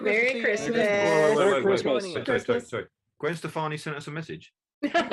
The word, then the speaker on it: Stefani: Amy, John told me I was saying her name wrong the other day. Is it Stefani? Yeah, Gwen Stefani.